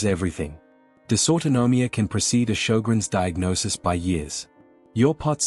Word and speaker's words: Sjogren's: Sjogren's disease, spelled S J O G R E N S, pronounced Sjogren's, is an autoimmune disorder.